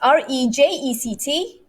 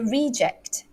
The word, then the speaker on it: reject: cheap because it's a reject the shirt is cheap because it's a reject is it a nano verb number two same word different stress she had to